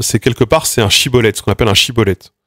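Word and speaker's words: schibboleth: C'est quelque part c'est un chibolet.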